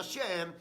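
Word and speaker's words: שם: Gafet también se había apartado, y el único que se quedó con Noé fue Sem, que en el hebreo se pronuncia Shem.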